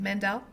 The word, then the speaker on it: Maendel: Mandel.